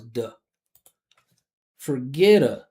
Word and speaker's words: forget: a flap t and since that first syllable here is unstressed we're going to make it a schwah so it's going to come out as duh forget Forget forget right not forget